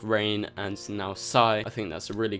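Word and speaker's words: Psi: say, but it's a villain called Psy. You spell it P-S-I, and this villain has been spotted on the set.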